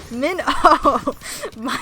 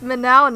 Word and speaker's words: Mino: to note in chat Mino is pronounced Min my oh it's like the fish my it's like the fish what is this menow nonsense okay Tetra Tetra